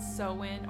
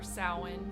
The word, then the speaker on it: Samhain: I want to talk about sewing or sowin whichever way you want to pronounce it that actually means Summer's